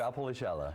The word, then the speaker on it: Valpolicella: I'm not even going to try and pronounce that. How do you say this? It's Valpolicella.